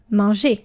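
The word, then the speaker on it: mangé: So, for example, manger, ER, the past participle is going to be manger. Same pronunciation, but the verb ends in ER and the past participle ends in E with an acute accent, accent aigu.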